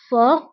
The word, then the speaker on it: fort: laid قوي fort fort هنا أيضا تي لا تنطق في آخر الكلمة fort وبالنسبة لضعيف هي faible